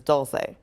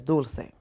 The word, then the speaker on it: Dulcé: name correctly oh no because like the i guess american english pronunciation is dolce yeah but the real pronunciation is dulcine mm-hmm we're going to